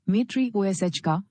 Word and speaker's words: Matryoshka: You pronounce You pronounce Matryoshka as Matryoshka with a stress on the third syllable, Matryoshka.